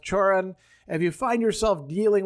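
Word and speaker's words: Cioran: And then finally, wrapping it up, we have this interesting reference to, I think it's pronounced Choran.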